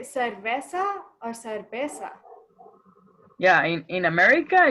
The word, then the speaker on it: cerveza: When I say it, when I write it, it's uve, pero pronunciation is be, is cerveza.